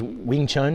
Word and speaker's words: Wing Chun: It was Wing Chun, is that?